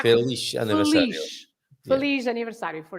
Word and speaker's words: feliz: Feliz, like a sh sound. Shh, that's Yeah, right. yeah. Shh. The sound is not z, but the sound is sh, right? Feliz aniversario.